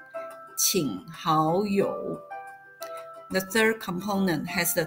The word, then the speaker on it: 请好友: 1 plus 2, and it is pronounced as third, second, third, 请好友.